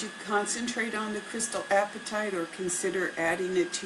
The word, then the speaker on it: apatite: the crystal apatite and it's spelled look like food apatite that a P a TI te apatite is a Bluegreen crystal